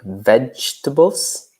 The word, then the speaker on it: vegetables: fruit yeah great then vegetables another interesting pronunciation because we we eat a lot of letters in English and sound so vegetables vegetables and other some other categories